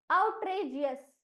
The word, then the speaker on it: outrageous: tray, tray OUTREG, तो क्या हमने सीखा है GEGI के टेक्निक में कि जी अकेला आए तो उसका उच्चारण होता है ग, और जब जी के तुरंत बाद लगकर ई आए तब उसका उच्चारण हो जाता है जी, इसीलिए जी अस